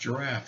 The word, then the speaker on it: giraffe: And she was pronouncing the word giraffe E, because it has an E on the end. And I said, no, it's pronounced giraffe.